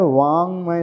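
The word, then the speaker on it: वाङ्मय: वांगमय शब्द है। अभी ग नहीं है। यहां पर क वर्ग का अंतिम अक्षर है।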